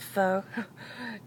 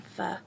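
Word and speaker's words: phở: I have a hard time with pronouncing that because it sounds like I want to say a dirty word. I always want to call it pho, it's more comfortable. But no, we're getting pho.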